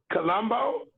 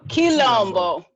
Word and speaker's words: Quilombo: I said Quilombo. Colombo? No, Quilombo. Quilombo.